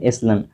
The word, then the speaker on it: echelons: ये बता रहा है stead of A hornets nest in higher, इसका मतलब होता है एसलन, ये जो है ECHELONS, इसको हम लोग प्रोनाउंस करते हैं एसलन ऑफ द गवर्नमेंट।